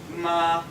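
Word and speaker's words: 妈: This is the standard example where you have ma. Can you please do that for me? Ma. Ma. Great. And you're not allowed to change that tone. You see, it's high and straight.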